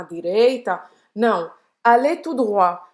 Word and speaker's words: droit: Então, apesar de tout droit parecer com droite, ele quer dizer em frente, certo? Então, allez tout droit. Sim, esse T não se pronuncia, é por isso que você não vai falar droite.